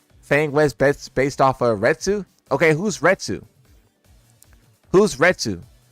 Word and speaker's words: Retsu: Retsu. Retsu came first.